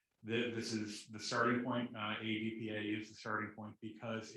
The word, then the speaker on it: AEDPA: And I will pronounce it AEDPA because as a Fed, I do love the acronyms. I have to give each letter its due.